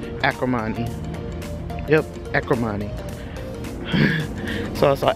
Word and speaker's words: Acrimony: I also saw Arakami. Is that how you say it? Let me start pronouncing this thing right, because I said it completely wrong first time. Acrimony.